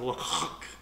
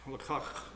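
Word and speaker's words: לקח: It's kind of a guttural sound, lachak, lachak, because the kahet at the end is like you're clearing your throat.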